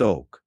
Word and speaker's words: Oc: This purifying function is conoted by white OC pronounced oak which in Mayan means dog like the dog.